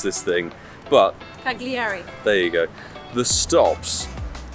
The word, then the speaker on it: Cagliari: After a little drive, we've arrived here in the town of Cagliari, I think it is, or Cagliari, or however you pronounce this thing. But Cagliari.